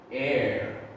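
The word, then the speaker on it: heir: and bingo bango all right school rhyme our air okay so air boys and girls that is the tricky one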